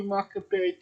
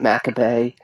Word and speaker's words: Makabe: Togi Makabe, not Maccabee. It's not a Jew. They, It's not a Maccabee. they pronounce it Makabe.